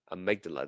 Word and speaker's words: amygdala: Okay, amygdala, that's how you pronounce it. You can change the Y to an I and then sound it out.